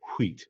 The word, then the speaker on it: wheat: with the wheat harvest, or wheat, if you pronounce the H, the wheat harvest.